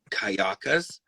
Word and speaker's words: Cayucas: It's called, I know the name, mispronounced, Kayakas. Cayucas, Cayucas, whatever it is.